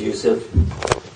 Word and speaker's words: Yusuf: background uh first of all my name is Yousef can see sir I want to give a